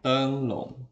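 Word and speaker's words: 灯笼: zaman dulu ya tenglung Nah bacanya tenglung ya Nah ini adalah tenglung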